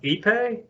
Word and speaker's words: ipe: It is actually a Brazilian hardwood, pronounced ipe, and it's actually so dense that it'll sink.